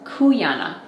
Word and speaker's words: Cuyana: I'm really excited to share information about this kuana that is how you pronounce the name of this company I had